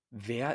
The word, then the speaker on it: Wer: Ven que una V doble en alemán se pronuncia como una V en inglés. Wer ist Yara? Este sonido es labio dental. Hay que poner el labio de abajo en los dientes de arriba.